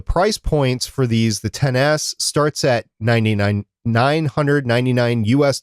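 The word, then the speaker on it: XS: announced the iPhone 10s and that's how it's pronounced 10s it's excess but 10s the iPhone 10s Mac's the iPhone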